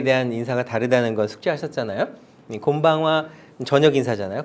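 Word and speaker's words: こんばんは: 느낌 곤 방어와 인데 이것도 이은 이라고 하는 발음은 어떤 때는 니은 어떤 때는 동그라미 어떤 때 미움으로 나요 차차 알게 될 텐데 여기서는 뒤에 파악 아 왔을 때는 미움으로 발음 하게 되요 그래서 곰방 와 이렇게 됩니다 같이 한번 얘기해 볼게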